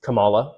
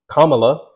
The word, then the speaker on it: Kamala: comma Harris one of them is like purposely mispronouncing her name and I completely understand I thought it was Kamala at first you know I think many people would but when you hear it Kamala that's it but there are people who still